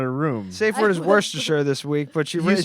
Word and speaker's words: Worcestershire: the lip yeah it Worcestershire is just pronounced like War Chester I know yeah you